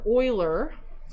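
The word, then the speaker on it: Euler: a gentleman named leonard oiler but it's not spelled like oil uh he made it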